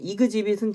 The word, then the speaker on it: exhibit: 근데 스펠링이랑 발음이 너무 다르죠? 예, 이게 발음이 exhibit이에요. exhibit. 그래서 이게 exhibit은 전시하다고 exhibition은 전시회예요.